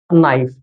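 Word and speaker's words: knife: প্রথম শব্দটি হল কে এন আই এফই। এখানে কে সাইলেন্ট সঠিক উচ্চারণ নাইস।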